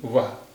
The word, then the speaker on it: वह: वो आ रही है এটা লেখা লেখা হয়েছে वाह কিন্তু এর উচ্চারণ হবে वो आ रही है।